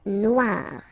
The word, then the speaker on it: Noire: Okay, then here, la mer Noire. Same thing here that we had previously. Final not pronounced, okay, and then OE, remember, wa, noir, noir.